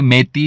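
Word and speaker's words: Meitei: है वह कम्युनिटी है मैं ताई बेसिकली हिंदू है आ कोई इसे मेथी भी बोलना है कोई मे ताई बोल रहा है लेकिन शायद इसका सही प्रोनाउंस अगर करें तो यह महत ही है तो 58% जो पापुलेशन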